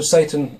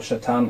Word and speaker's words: Satan: Also Satan, or Shaitan, however you want to pronounce it, it doesn't just simply mean the devil.